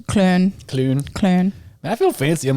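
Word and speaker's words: Köln: And then like Cologne, it's Clun.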